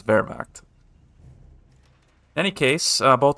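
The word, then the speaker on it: Wehrmacht: pronounce things more correctly ever since I was told that Vermact is in fact pronounced that way as opposed to whatever the heck I was saying. I think it was Warviche. That's not right. It's Vermach.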